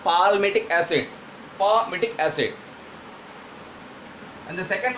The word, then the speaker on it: palmitic acid: Palmitic acid, here letter L is silent, not palmitic acid, palmitic acid.